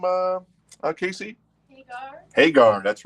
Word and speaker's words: Hagar: you say sami's last name uh Casey haar Hagar that's right very nice produced by Edgar witer